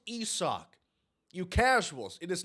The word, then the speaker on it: Isaac: hopped into the twitch chat his name is pronounced ESO you casuals it is not Isaac it's ESO there is people debating that it